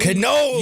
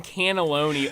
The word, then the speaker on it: cannoli: Cannoli! You've been saying cannelloni all Dude, cannelloni, month cannoli.